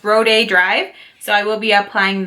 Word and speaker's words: Rodeo Drive: In my recent haul video, I said Rodeo Drive, but a lot of you were so sweet and helped me pronounce it correctly, and it's Rodeo Drive.